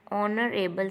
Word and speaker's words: honorable: Yusuf is an honorable citizen. In this H is mute consonant, so an का यूज़ o के according किया गया, second letter के according किया गया.